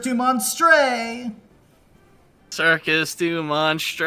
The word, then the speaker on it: Monstre: Monstre.